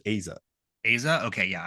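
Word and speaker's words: Eiza: Then I did want to quickly touch on, is it Isa Gonzalez? So I heard her pronounce it as Aza.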